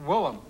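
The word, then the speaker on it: Willem: Right, Originally, Wilhem. when I got the nickname, I spelled it phonetically, and then I found out later that it's a very common Dutch name.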